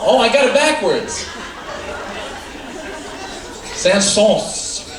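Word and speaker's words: Saëns: Sauce. Sauce. Like some sauce that you get on the duck fat.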